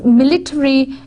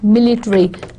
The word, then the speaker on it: military: That is, military is military and military, not military. ठीक है. In American English, the stress is where it's on th, military. Whereas in British English, the stress would be on m sound, military.